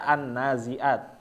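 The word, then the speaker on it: النازعات: was tanda wasal ya kalau misalnya dibacanya di awal kalimat tanpa ada wunya ya tanpa ada waunya maka dia dibaca annaziat tetapi karena dia bersambung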